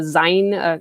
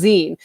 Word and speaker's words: zine: we did this year uh was actually a zein i always say sign a zine it's a zen shay i know it's pronounced zine there was a zine making workshop lunch and